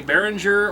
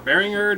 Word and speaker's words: Behringer: As far as audio is concerned, we have everything coming into a Behringer or Bearinger depending upon how you prefer to pronounce it.